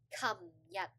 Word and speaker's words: 琴日: A lot of my students, they would like mix up the pronunciation and the tone, so it'll become like 今日, which is, I would have to guess, is it 今日 or is it 琴日?